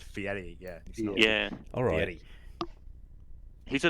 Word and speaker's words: Fieri: area yeah next one Guy Fieri Guy Fieri it's actually pronounced Fieri yeah yeah alrighty he's